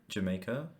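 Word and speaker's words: D'yer Mak'er: on the album actually we have uh D maker di maker how do you say that reggae we got a reggae influence track Jamaica oh Jamaica okay I see okay I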